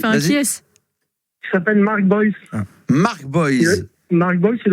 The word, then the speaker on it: Boyce: Il s'appelle Mark Boyce. Mark Boyce. Mark Boyce, il a beaucoup de succès. Et il faisait les unes des magazines OK Podium. Ouais, mais Mark Boyce.